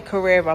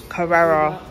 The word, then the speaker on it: Carrera: This, I say Carrera, but apparently I'm saying it wrong. Carrera. Carrera.